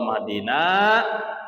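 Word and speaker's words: اهدنا: Jadi Allah mahdina, na-nya panjang. Allah mahdini, ni-nya pun panjang 2 harakat. Jadi na dibacanya 2 harakat, ni sama dibacanya 2 harakat.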